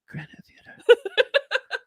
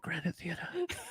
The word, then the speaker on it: Granite Theater: Just Granite Theater. If you can drop the R at that Granite Theater, just please, yeah. 3 syllables. Theater.